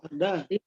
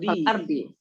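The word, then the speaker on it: الأرض: Allazi khalaqal arda. Allazi khalaqas samawati. Satu. Yang satu lagi? Allazi khalaqal ardi. Jangan. Arda. Iya.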